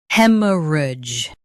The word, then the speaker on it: hemorrhage: He, m, rudge, hemorrhage. Stress hem and keep soft. Rudge is smooth.